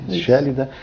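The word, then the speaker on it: Schellida: Pronuncia-se Shélida, por dar a cara.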